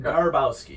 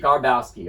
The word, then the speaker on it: Garbowski: you tell me how do you say it Garbowsky Garbowsky all right I'm here today with Pete Garbowsky